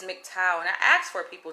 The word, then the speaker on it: MGTOW: of this name because i was calling it mg toad and they corrected me and says it is mgtow and i asked for